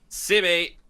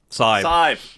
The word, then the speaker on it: Saib: And then we've had ourselves Sibi, I hope I pronounced that right. It's Saib. Oh my gosh, I did not pronounce that right.